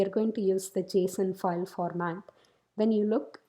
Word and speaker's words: JSON: First of all, you pronounce that particular word as JSON.